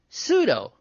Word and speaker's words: pseudo: I was giving examples of words that begin with silent P, like pseudo and ptomaine. And psychologist. Right. That's a silent P word, too.